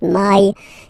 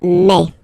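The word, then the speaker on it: mai: way in French remember when you combine this a and then e vowels you get the sound e e so really open E okay and then you pronounce it me me okay so don't pronounce e don't try to pronounce it no it's me me so it's not my it's me okay and then here it's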